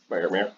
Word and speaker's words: Faramir: Faramir.